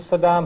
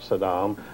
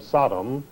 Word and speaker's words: Saddam: Well, George was always a business partner of Saddam, and he claimed he didn't know him, so he deliberately, when he was on camera, he always mispronounced his name. He always called him Sodom, as though he were